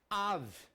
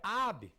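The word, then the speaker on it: אב: Av. Pronto, Av. O que é Av em hebraico? Pai. Professor, não é Ab. Tem alguns que pronunciam Ab ou Aba, que é do aramaico.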